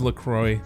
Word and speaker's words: La Croix: right here how is lacroix pronounced it's la croix it rhymes with enjoy there you go let's